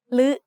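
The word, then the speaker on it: ฦ: The other pair of vowels is similar, except they are pronounced like a combination of ลอลิง with the vowel sounds สระอึ or สระอือ ลึ and ลือ are written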